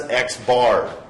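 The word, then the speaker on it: x̄: of measurements by xar so this x with a line over the top of it we pronounce as xbar xar is the mean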